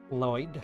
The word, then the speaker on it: Lloyd: You make the sound by putting the tip of your tongue on your pallet like you're pronouncing an L. And then you kind of breathe past both sides of your tongue. Sounds kind of hissy.